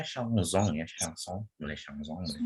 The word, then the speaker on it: chanson: Terus ini bacanya chanson.